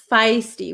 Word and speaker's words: feisty: this word before um can you pronounce feisty feisty feisty it's like a long ey feisty we had a lesson